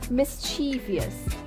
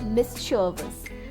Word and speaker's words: mischievous: It's common for English speakers to say it as mischievous. Mischievous. But the correct pronunciation is mischievous.